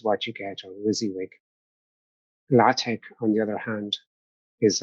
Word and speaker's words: LaTeX: is what is latex first of all it's pronounced latex as opposed to latex it is a highly controllable and free setting